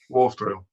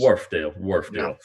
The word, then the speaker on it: Wharfedale: Peter, how do you actually properly pronounce the name of this brand? Wharfedale? Wharfedale, yes. Wharfedale.